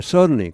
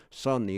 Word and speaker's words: suddenly: suddenly 이렇게 해서 이 여기서 제가 해보니까 D 발음이 사실 애매하긴 하네. 거의 안 나버리네요. 그냥 suddenly. 이렇게 D하고 T 발음은 굉장히 중간에 있으면 발음하기 힘듭니다.